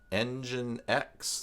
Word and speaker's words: nginx: to patchy servers only ng i-10 engine X that's probably how those pronounced they has its own